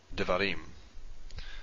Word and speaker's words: Devarim: And the default stressed syllable is the last one. So let me give an example here. Devarim.